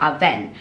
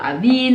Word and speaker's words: Avène: butcher this name so it's all thermal aven not aveen no avini not event okay so now that